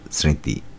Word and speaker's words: স্মৃতি: ঋ তয় হ্রস ইকার স্মৃতি শব্দের সঠিক উচ্চারণ হলো দন্তসয় চন্দ্রবিন্দু ঋকার তয় হ্রস্বইকার স্মৃতি 43 নম্বর প্রশ্ন ব্যক্তি শব্দের